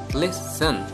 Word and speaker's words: listen: St sound is midi silent hair for example listen listen to spellings l i s t e